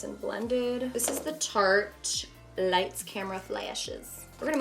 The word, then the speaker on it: Tarte: So, now I'm using Tarte Shape Tape.